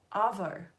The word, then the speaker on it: arvo: Okay, for starters, arvo is spelt A-R-V-O. Does avocado have an R in it? No. Arvo means afternoon.